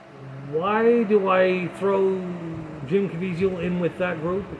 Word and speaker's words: Caviezel: a false narrative um Jim caviezio or Jim Caviezel but however you want to pronounce it they pronounce it cavisil on the news even though it's kind of easy Vizio um he is a